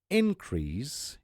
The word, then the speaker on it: increase: And increase is a noun form.